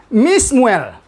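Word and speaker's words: מִשְּׁמוּאֵל: Jadi bacanya menjadi Mismuel, ya, menjadi Mismuel artinya dari Samuel, ya.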